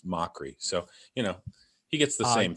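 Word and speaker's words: Mochrie: People say mockery or macaquery, and it's mockery.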